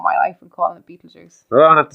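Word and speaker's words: Betelgeuse: betes be juice huh be juice what about pet juice that's pet juice yeah pet juice is that how it's pronounced am I saying it right no say what it's Beetle Juice I don't know what you're trying to say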